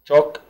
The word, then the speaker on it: chalk: ruler مسطرة، chalk طباشير، وعندنا ال اللي لا تنطق، chalk، duster شاورة، board سبورة، سكول باج حقيبة مدرسية، رابر وتساوي إريزر، ستيكة، بن دبوس.